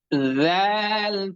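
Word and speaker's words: ذ: জাল পেশ জু, এই জু কি কম্পনের সহিত উচ্চারণ করতে হবে? জাল পেশ জু, হ্যাঁ। আপনি যখনই উচ্চারণ করবেন তখনই প্রথমে হালকা কম্পিত হবে, কম্পন হবে।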